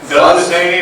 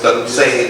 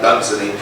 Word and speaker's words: Dunsany: scriber," which is, so we need something like Dunsany rhymes with rainy. Right, there you go. Fun and zany, that's Dunsany. And I wish somebody tell Neil Gaiman that it's Dunsany, not Dunsany.